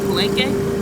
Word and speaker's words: Palenque: We are in Palenque. That's how they say it. But I think they say it in Spanish it's Palenque, right?